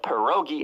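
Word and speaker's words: pierogi: down so even though I pronounce it as perogi instead of per Roi and I drink potato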